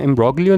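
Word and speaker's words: imbroglio: अच्छा, अब इसमें ये चीज़ देखिए आप, जिसको जब हम प्रोनाउंस करते हैं तो जी जो है वो साइलेंट होता है, इसको हम एम्ब्रोलियो नहीं बोलते, एम्ब्रोलियो बोलते हैं।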